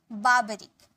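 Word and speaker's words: barbaric: क्या मतलब होता है इसे आर यहां पर साइलेंट है बर्बरिक बर्बरिक का मतलब होता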